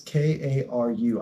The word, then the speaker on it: Karoo: Hey Siri, why do they call the bounce lands in Magic Karoo lands? It's Karu. I know they're spelled like that, and I know it's because of an interaction with some card.